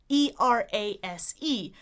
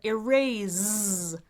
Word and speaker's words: erase: One person said E-R-A-S-E, but erase, which is fine if you're speaking British English, but Americans say erase with an S like a snake rather than a Z like a zebra.